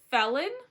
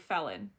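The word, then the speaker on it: Phelan: anything but ordinary Nate Nate felon it's spelled p h e l a n but I feel like I'm saying it like felon I feel like I'm definitely saying it wrong but it's okay we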